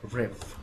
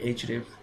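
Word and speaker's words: href: ট্যাগের মধ্যে সেটি হচ্ছে রেফ রেফ এটাকে আমরা রেফ উচ্চারণ করতে পারি অথবা বলতে পারি এইচ রেফ যেটাই বলি না কেন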